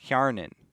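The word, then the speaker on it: Hjärnan: Hjarnan is how you say that.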